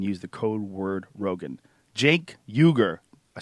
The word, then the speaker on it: Cenk Uygur: Jenkuger.